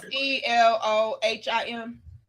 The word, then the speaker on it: Elohim: Yeah, I definitely E L O H I M. Yeah. Okay. Definition Okay, let's see how to pronounce it.